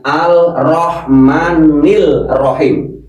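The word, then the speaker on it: الرحمن الرحيم: Kalau ketemu huruf ro alnya tidak terlihat langsung ar.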